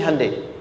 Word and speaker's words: Hyundai: sana bikin Honda sini Hyundai Hyundai kan dibacanya Hai Ya kan sana Honda sini hundai gitu di apapun yang